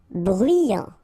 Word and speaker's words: bruyant: Bruyant. Final T not pronounced. So you get bruyant.